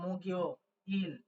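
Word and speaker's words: 목요일: অনুযায়ী উচ্চারণ ধরবো তাহলে গিউ কেউ মাঝে বসলে গ হয় ক খ গ তাহলে গ হলে হয়ে যাবে গিয় এই হচ্ছে মগিও ইল ঠিক আছে মগিও ইল সেই অনুযায়ী এটার উচ্চারণ আপনারা লিখবেন মগিও ইল এই মগিউল ঠিক আছে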